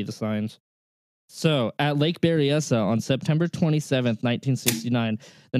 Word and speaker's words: Berryessa: Berryessa?